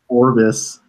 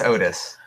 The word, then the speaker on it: Otis: Because I said Otis elevator stuff, and then you were like, "Ooh, is it Orbis?" or is it say Orbis?" No. I said it wrong. It's Otis, right? Yeah, it's Otis.